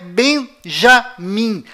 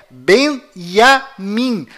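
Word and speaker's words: Binyamin: é iu além disto não é Benjamim a pronúncia correta é benyamin pois lembre-se até hoje não existe em hebraico nenhuma letra com som de J confira é benyamin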